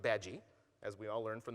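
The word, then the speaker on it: Badguy: Mr badgi B a d gu y it's pronounced badgi as we all learned from the Muppet movie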